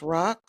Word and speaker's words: Raq: I am your host, Rock, spelled R-A-Q, pronounced R-O-C, and I'm here with my co-host.